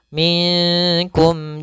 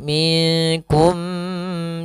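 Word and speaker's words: مِنْكُمْ: Cara membacanya harus jelas suara mimnya. Minkum jibillah, tidak boleh minkum jibillah. Tidak ada namanya gunnah di sini.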